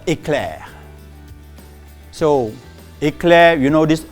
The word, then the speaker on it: éclair: So éclair, so pronounce it correctly, éclair.